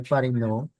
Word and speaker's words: Parinaud: se conoce como el signo de Parinot, se escribe Parinaud.